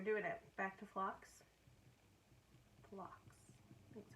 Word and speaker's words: Phlox: Phlox. That's how you pronounce it.